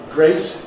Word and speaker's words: great: Great is great, rhymes with state.